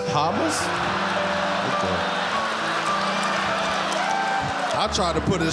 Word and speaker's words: Hamas: the is yamas that's that's pronounced H Hamas Hamas I tried to put